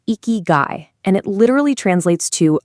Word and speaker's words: ikigai: They call it eeky guy. It's pronounced eeky guy and it literally translates to a reason for being.